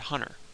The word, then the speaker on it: Hunter: pronouncing anything for instance if you say the word Hunter there's no T at all in that word although um it's it's there in our brains we're just not actually realizing it so phology would look